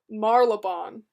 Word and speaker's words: Marylebone: Marylebone. Really? Marylebone. I guess that the Y is pretty much silent.